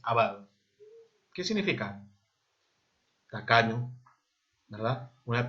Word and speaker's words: avaro: Se dice avaro, no se dice avaro por si acaso, es avaro.